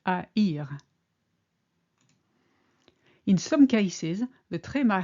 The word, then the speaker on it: haïr: For instance, in the verb haïr, to hate, the tréma makes it clear that the A and the I should be pronounced separately. Not er, but haïr.